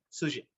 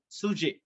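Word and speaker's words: sjuzhet: F-A-B-U-L-A, fabula, and S-J-U-Z-H-E-T, sujet. Sujet, that's the pronunciation. Sujet.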